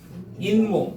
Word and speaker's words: 잇몸: 요거 발음하면 어떻게 돼요? 인몸. 이렇게 발음돼요.